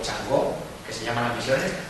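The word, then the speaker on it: 嫦娥: Ya han llevado allí 3 misiones, Chang'e o Chang'o, que se llaman las misiones, Chang'e, o si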